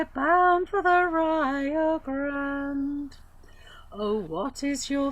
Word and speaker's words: Rio: we're bound for the Rio Grande. I have to take you to task there, Gwyneth. I know somebody's told you it's Rio. It's not. It's a Spanish word. It's Rio.